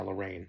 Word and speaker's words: Lorraine: So again uh uh Was it Lorriane or was it Lorraine? It might have been Lorraine. I feel like it was Lorraine. It was Jenna Ortega's character. Yeah, Lorraine. That's how you pronounce that.